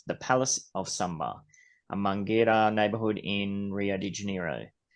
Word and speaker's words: Mangueira: I always say Mangueira. Mangueira. That's it. I always say Mangueira.